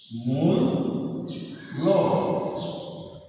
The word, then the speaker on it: মূল্য: যেমন একটা শব্দ হতে পারে এরকম মূল্য, দীর্ঘতা দিয়ে বানান, আমরা এর উচ্চারণটা লিখবো এরকম মূল্য, এইভাবে।